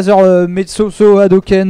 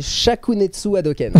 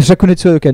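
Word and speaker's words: Shakunetsu Hadoken: pas à le prononcer donc c'est pas gen metsoso adoken bais la gueule je suis désolé c'est c'est shakunetsu adoken shakunetsu adoken d'accord ok voà alors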